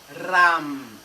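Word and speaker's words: रं: Ele é transliterado do sânscrito para o português com a letra R, mas ele não é o R gutural, arranhado. Ele é o R palatal.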